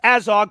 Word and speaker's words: Azog: It's pronounced Azog, but you both had it spelled right, so I'm not going to count that against y'all.